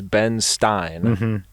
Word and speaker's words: Ben Stein: on earth his name's ben stein and he's like marnery rhymes with einstein so i'm also smart